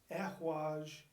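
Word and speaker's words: Ehwaz: Now the elk rune is not pronounced, actually there's three. There's El-Haj, Ehwaj, and Yuhwaj.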